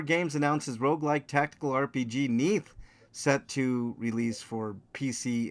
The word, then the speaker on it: Neath: Cellar Door Games announces roguelike tactical RPG Neath set to release for PC in 2026. I'm pronouncing it Neath because it looks like death.